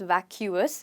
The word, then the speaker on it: vacuous: word it's pronounced as vacuous. it's got three syllables but you don't say vacuous you say vacuous.